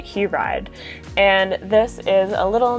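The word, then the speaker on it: Hiraide: hi oh no okay according to a pronunciation website it is takashi hewride and this is a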